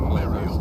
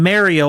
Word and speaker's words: Mario: Well, no, but it's just the fact that I'm seeing Mario all over the place. I'm suddenly like, okay, so I didn't just invent this out of nowhere. No, that's how they pronounce Mario over there.